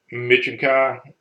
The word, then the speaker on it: Michin Kai: His name is Machin Kai, I think is how it's pronounced. Just a weird name. Michin Kai is the way it's pronounced.